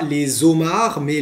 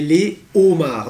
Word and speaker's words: les homards: vous avez le homard et là on dira pas les hommes armés les homards donc le homard attention